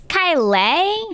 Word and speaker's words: Kayleigh: So please welcome Kayleigh, everybody. Hello, Kayleigh. Hello, Kayleigh? Dan. Am I saying that right? It's Kayleigh.